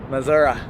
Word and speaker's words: Missouri: River from Illinois into Missouri Missoura Missour yeah is that how they say it I don't know my mom's from Missouri that's how she says it really so what are